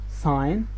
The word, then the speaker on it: sign: And the last rule is before silent G and S. Might, sign, island, and sigh. So as you can see, G here and S here is not pronounced, so that's why we call it silent.